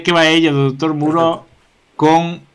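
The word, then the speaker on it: Moreau: A illa do doutor Muró, ou se lemos como se escribe, sairíanos unha película dun galego que sería A illa do doutor Moure.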